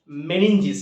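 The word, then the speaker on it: meninges: আবরণ রয়েছে ঢাকা কভার রয়েছে তার নাম হচ্ছে মেনিঞ্জিস কি নাম মেনিঞ্জিস বানানটা হচ্ছে এম ই এন ই এন জি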